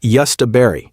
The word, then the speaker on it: jostaberry: Number 5, jostaberry, pronounced jostaberry, and this is the plant that scientists literally engineered to be the perfect berry bush.